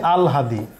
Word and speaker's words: আহ্লাদি: মাসিপিসি গল্পে আলহাদি এই তরুণীর মাসি পিসি দুইজনই বিধবা আর নিঃস্ব। দেখো আহ্লাদি, বানান আহ্লাদি, কিন্তু উচ্চারণ করতে হচ্ছে আলহাদি। এখানে হ এবং ল যুক্ত হয়েছে, কিন্তু ল এর উচ্চারণটা আগে হবে, কারণ বর্ণমালা পড়ার সময় আমরা লটা আগে পড়ি।